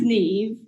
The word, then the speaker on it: Niamh: be used so that my name's neve and it's spelled in the irish gaelic ways um and when i